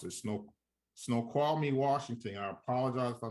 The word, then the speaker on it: Snoqualmie: Doolittle is located in, can't even pronounce it, Snoqualmie, Washington.